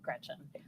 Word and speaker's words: Gretch: Don't let people call you Gretch because it rhymes with wretch.